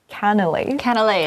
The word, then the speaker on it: canelé: Canelés. So difficult to pronounce. So confusing. It also sounds pretty like canal.